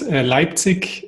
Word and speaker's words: Leipzig: hotels coming to us from germany did i pronounce that right well um it's called leipzig and i guess i think there's also an